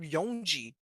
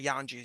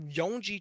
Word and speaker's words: Yonji: So not only if if if Yonji, that's how you pronounce it, by the way. Not Yanji is Yonji. If Yonji tried to attack Kaku, could Kaku activate iron body?